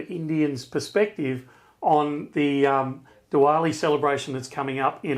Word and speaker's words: Diwali: it different ways uh it's Diwali Diva so it actually has a slight V in it yes all right so